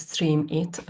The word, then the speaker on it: Stream IT: This project has a different pronunciation. As a coordinator, I pronounce it as Stream It project.